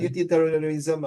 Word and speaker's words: utilitarianism: Utilitarianism. Okay, one more time. Utilitarianism. Utilitarianism. If you read faster. Fiona, 试试看. Utilitarianism. No, it's not UTT. It's utilitarianism.